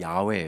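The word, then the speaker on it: 야훼: 이렇게 불능 거예요 근데 나중에 보니까 아냐 여호와 가 아냐 야외 에요 그래서 원래 야외 에요 나중에 공동번역 에선 야외로 번역해 떠라 구요 그런데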